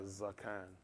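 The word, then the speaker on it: Zaqan: Zakan. Z-A-Q-A-N. I think it's pronounced like Zakan.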